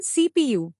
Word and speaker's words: CPU: device the keypad to CPU Central Processing Unit it is an abbreviation for central processing unit and is pronounced as separate letters the central processing unit